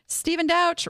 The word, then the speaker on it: Douch: And Stephen Douch rhymes with couch without the E.